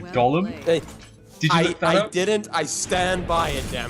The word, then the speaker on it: golem: it's time you said Golem hey didn't I stand by it damn it you're absolutely wrong though I mean nobody nobody says Gollum for for a Golem like that nobody I've seen American